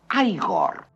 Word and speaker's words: Igor: Usted debe de ser Igor. No, se pronuncia Igor.